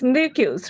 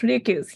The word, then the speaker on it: Ryukyus: Yes, Ryukyus, Ryukyus, yes.